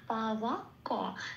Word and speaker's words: পাবক: পাবকতে বতে একটু লাল দিয়েছি, কারণ বয়ের উচ্চারণ সংস্কৃততে হয় ও প্লাস অ, 2 নম্বরে তালিকাভুক্ত করে দেওয়া আছে। এবার সেই জন্য ঠোঁটটা খুলে উচ্চারণ করতে হবে ওয়া। পা ওয়া ক, এগুলো সব পূর্ণরূপে উচ্চারিত